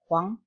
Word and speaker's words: Huang: Dibacanya kayak W-A-N-G jadinya. H-W-A-N-G. Jadi bacanya kayak Huang. Huang.